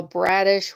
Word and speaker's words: Bradish: His name is Kyle Bradish, which rhymes with radish, and I don't like radishes.